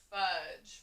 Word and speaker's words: fudge: and d g e if you see d g e at the end of the word it makes that j sound so that's the soft